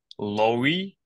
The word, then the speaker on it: Lowy: of it called The Lowry international school if I pronounced it correctly yeah with a W in the middle yes okay so uh how we